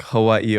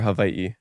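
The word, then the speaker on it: Hawaiʻi: but know that it it can be pronounced like a V like in German so that's why it's like Hawaii or Hawaii and my grandma uh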